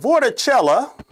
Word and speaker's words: vorticella: mouth of vorticella and vorticella yes it rhymes with coachella are the organisms that